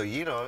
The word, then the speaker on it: gyro: So gyro is the right word, but, you know, gyro is okay, too. We don't judge pronunciation at, here we our, go. At our spot. So, you're yeah. giving all the love. Exactly. But it is gyro, okay.